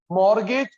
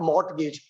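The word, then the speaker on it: mortgage: Difference between, difference between मॉर्गेज, security, collateral and loan sanction is called margin. Difference between मॉर्गेज, T silent है चाचू, मॉर्गेज नॉट मॉर्टगेज, मॉर्गेज।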